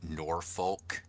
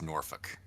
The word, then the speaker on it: Norfolk: drive south, but it's it's not norolk, it's Norfolk.